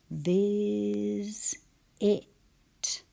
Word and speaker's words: visit: Viz. It. So an E wasn't used, but a vowel was. So sometimes an S in between two vowels is pronounced Z.